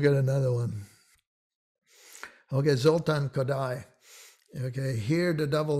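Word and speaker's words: Kodály: and of sound uh people have a lot of trouble with kodai i don't know why well they often one version of it is kadali or kodai well even if you get the your part there is no e at the end uh it's kodai okay how about another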